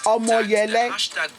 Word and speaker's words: Omoyele: protest, Omoyele Sowore, okay, Omoyele, that name I could not pronounce well. It's Omoyele.